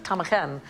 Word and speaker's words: ptarmigan: There is no need for the P to be there at all.